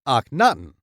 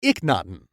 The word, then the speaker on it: Akhenaten: There are several pronunciations of this Egyptian pharaoh. Some pronounce it Akhenaten, while some pronounce it Akhenaten or Iknaten. All three are acceptable and refer to this same pharaoh. Akhenaten was born in 1350